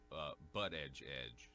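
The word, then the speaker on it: Buttigieg: Pete Butt Edge is the only way you can pronounce it. Trump says you got it. It's edge. He said you have to. It's butt edge is how you say it.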